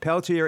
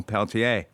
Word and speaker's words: Peltier: and championing Peltier devices Peltier is an anglicized pronunciation of the original Peltier rich wanted to use